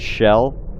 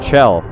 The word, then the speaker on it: Chell: Your main character's name is Chell, by the way. There's like fucking one guy, I think Vinesauce, that pronounces it Shell, like Michelle, even though it's spelled Chell, or you know, the Chell part of Michelle.